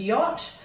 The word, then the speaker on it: yacht: So we've got y. Now we know after a W, a WH, or a QU, we're allowed to use an A for the ot sound, and that also applies after a Y. But the only word that it works with is yacht.